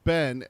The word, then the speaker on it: been: her cultured vassar voice pronouncing ben and so it rhymed with scenes so where have you